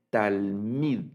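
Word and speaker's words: תלמיד: Es el sustantivo talmid, se lee.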